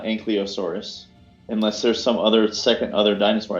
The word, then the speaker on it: Ankylosaurus: It's both. It depends on your region's pronunciation because it's a loan word.